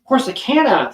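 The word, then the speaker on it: Corsicana: They just issued a new sear for Rakahache, Corsacana. Wait, how do you pronounce that? Corsana.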